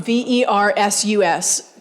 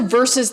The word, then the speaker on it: versus: If you think about kids who are hearing on the radio or television, Sunday, the thunder versus the heat, Serena Williams versus Venus Williams. It sounds like V-E-R-S-E-S.